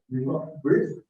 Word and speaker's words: breathe: breathe breathe to breathe so the E is silent breathe breathe finally astronomers spouse